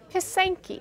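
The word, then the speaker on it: Pysanky: So moving right along, we're moving over to Pasanki, am I pronouncing that right? Pasanki.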